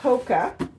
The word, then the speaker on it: HOKA: Okay, so you pronounce this HOKA, H-O-K-A.